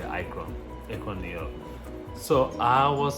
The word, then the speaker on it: Akron: Americans say Akron, New York.